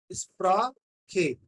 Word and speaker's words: Sprache: This word Sprache, you can pronounce it like this: SPRAA plus CHE. Sprache.